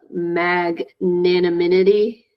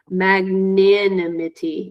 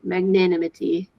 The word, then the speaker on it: magnanimity: next word is is uh maginity or sorry let me say it again I think I said it wrong magnanimity yeah that's it magnanimity magnanimity yeah so when